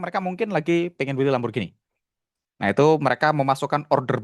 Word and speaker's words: Lamborghini: By the way, kata Fitra bacanya Lamborghini ya.